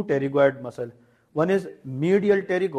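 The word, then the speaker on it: pterygoid: and lateral टेरिग इड टेरिग इड की spelling इस तरह लिखें इसमें पी साइलें है दैट इज कॉल्ड टेरिग इड ठीक है तो वन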